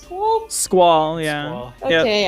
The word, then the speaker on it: Squall: Is it pronounced squall?